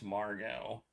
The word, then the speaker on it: Margot: it Margo maybe it's Margo with no you don't pronounce the T maybe it's French I'm going to go